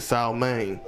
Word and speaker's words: salmon: I want the steak and the salmon. Yeah, pronounce the L. Salmon.